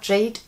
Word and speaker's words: GADE: bisschen mehr der Marke JD wird das übrigens geschrieben aber Jade ausgesprochen vielleicht noch ein bisschen